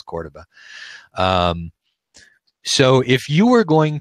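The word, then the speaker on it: Córdoba: based on you know Cordoba which I mispronounced my entire life thinking of as Cordoba its Cordoba so if you were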